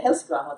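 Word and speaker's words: Helskyaho: And very briefly about me, so my name is Heli and the last name is Helskuaho. Anybody can pronounce that. Yeah, Helskuaho, that's correct.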